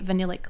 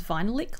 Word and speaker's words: Vanillic: I always thought it was vinylic lip, as in a lick of vinyl, but I saw an interview with Emily Weiss and she says vanillic.